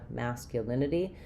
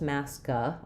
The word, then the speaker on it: masculinity: So, it's not just masca or mascu, but rather masa masa.